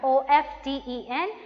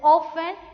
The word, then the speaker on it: often: last word is orphan o f t e n that is often we are not pronouncing the word t here g is silent the